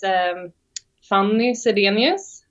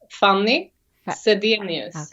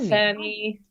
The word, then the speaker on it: Fanny Zedenius: That's how you pronounce it in Swedish. Oh, wait, say it again. Pronounce it slowly for me. Fanny Zedenius. Okay. Yeah. It's more like funny. But yeah, so it's not Fanny.